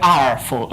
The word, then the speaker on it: ar: The R tool. There's a reason this rhymes with tar, and it's that tar pretty much obsoleted R in day-to-day use.